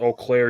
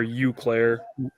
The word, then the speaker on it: Eau Claire: through several times so yeah as you earlier pronounced Eau Claire you Claire whatever I'm staying in euclair on my way home to North Dakota say